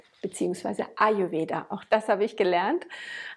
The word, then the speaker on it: Ayurveda: Aha-Erlebnis, Betonung auf dem A. Das hat Ralf auch noch mal ganz klar gesagt, dass man sich nicht wundern soll, wenn man mal nach Indien kommt, dass dann quasi dort vor Ort häufig vom Ayurveda gesprochen wird. Das zweite A ist wie so halbes stilles A am Ende. Und die Betonung ist eindeutig vorne.